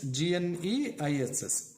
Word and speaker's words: gneiss: So then gneiss, G-N-E-I-S-S, G silent, so gneiss it is pronounced.